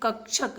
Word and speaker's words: कक्षक: अच्छा दिखाता है यह कक्षक है वह कक्षा यह कक्षक है ठीक है थोड़ा सा उच्चारण आप समझने का प्रयास करेगा कक्षक होता है कक्षा होता है इसको मुखिया पड़ते हैं